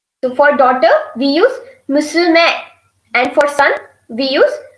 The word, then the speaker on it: musume: So for daughter, we use musume, musume, musume. Again, I will again repeat the pronunciation. Musume, musume. Then for son, we use musuko, musuko, musuko, musuko.